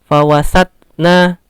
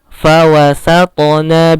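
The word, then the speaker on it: فوسطن: Atau bahkan sering yang membacanya tanpa diqalqalah, fawasatna, seperti itu. Itu kurang tepat, itu salah karena to ini huruf yang qalqalah. Fawasatona bihi jam'a.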